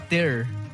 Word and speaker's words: tear: Oye, por cierto, estoy viendo, no, Ter sí se pronuncia Ter. Cuando es de romper, es Ter, como T y con air. Cuando es de lágrima, es tear.